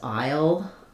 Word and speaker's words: aisle: It's also the same as aisle, the shortening for island. The technical pronunciation, you have the I diphthong, aisle, and the dark L. But what you'll hear is that it kind of sounds like I, and then as I'm